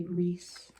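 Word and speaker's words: Rhys: How do you say that? R-H-Y. I looked it up, and I think you say Reese.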